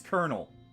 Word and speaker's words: colonel: Even though it sounds like when you pronounce it properly, it sounds like there's an R in there.